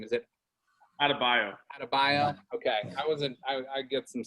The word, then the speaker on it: Adebayo: Adebayo. Okay, I get some syllables mixed up there.